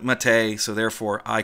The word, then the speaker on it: MATE: a drinkable brew called yerba mate a or Matta or something like that which I can't pronounce with the correct colloquialisms the developers of a boon to MIT a call it Matei so therefore I call